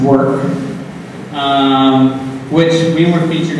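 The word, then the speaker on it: VVORK: you might know called VB o r k pronounced work um which we were featured on MTA recently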